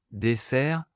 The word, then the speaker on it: dessert: SS double, prononcé comme S, dessert, mon dessert préféré est la tarte aux pommes.